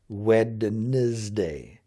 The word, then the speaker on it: Wednesday: and say it, and it comes out more like Wednesday, Wednesday, when it really needs to be more like Wednesday, Wednesday. It's like a Z sound, or Z if you're from the U.S. The last letter of the alphabet, the Z, Z, Z. Wednesday, Wednesday, Wednesday, Wednesday. It almost, you don't even hardly hear the D at all.